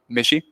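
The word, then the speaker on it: Michie: Mishi. Missy Stadium. Army. Okay. Is that not how is that how you say it?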